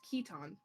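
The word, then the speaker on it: chiton: see where are the is pronounced keton get old upload.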